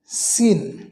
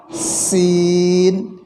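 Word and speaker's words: سين: আর ঝা, অর্থাৎ সদ, সিন, ঝা, ঝা, ঝা। এই 3টি হরফ একই জায়গা থেকে উচ্চারণ হয়, 3টি একই স্থান থেকে উচ্চারণ হয়। তবে সিন বলার সময় চিকন করে বাতাস বের হবে, আওয়াজ হবে চিকন।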